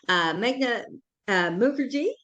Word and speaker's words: Meghna Mukherjee: And we have here today, we're very fortunate to have Meghna Mukherjee.